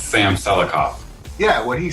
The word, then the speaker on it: Selikoff: How do you pronounce that? It's Sam Selikoff.